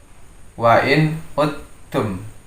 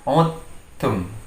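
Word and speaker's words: وَإِنْ عُدْتُمْ: Membacanya wa in uttum. Jadi bukan ud, tapi menjadi uttum.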